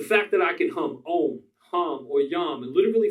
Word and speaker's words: om: Try om, pronounced like the O in home.